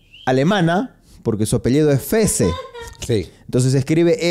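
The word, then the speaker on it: Fehs: porque su apellido es FES Sí entonces escribe f e h s e y Cómo se pronuncia FC No más porque la H es muda pues no muy bien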